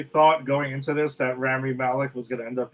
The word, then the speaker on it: Rami Malek: Let's get down to the villain, Safin, Molly Ramick. Molly Ramick, is that it? Yeah. Rami Malek. Am I saying it right? Rami Malek. Yeah. Rami Malek, that's it.